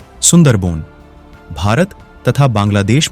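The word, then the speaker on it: সুন্দরবন: सुंदरवन बांग्ला उच्चारण सुंदरबोन भारत तथा बांग्लादेश में स्थित विश्व का सबसे बड़ा नदी डेल्टा है।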